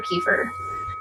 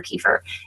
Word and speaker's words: kefir: tear apart um water kefir first of all is it kefir or keer what's your take that it's keer we say it wrong ke okay but nobody